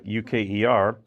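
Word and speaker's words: euchre: is spelled EU H re e but it's pronounced like UK R it emerged in the early 1800s and it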